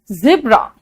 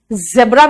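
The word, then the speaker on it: zebra: गंदा लगता है जू जेब्रा जेब्रा भी बोल सकते हो जिब्रा भी बोल सकते हो दोनों सही है ठीक है जीरो बेटा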